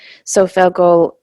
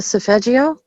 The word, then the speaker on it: solfeggio: but we did get into the sophelgal, how do you say that? How do you say that word? The solfeggio? Yes, thank you.